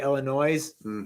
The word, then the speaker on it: Illinois: evil burrito chicago illinois normally i say illinois but because if the good lord didn't want you to pronounce that s he wouldn't put it on there but i i was